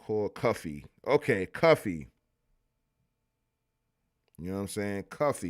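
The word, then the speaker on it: Cuffe: The name is Paul Cuff pronounced like Cuffy.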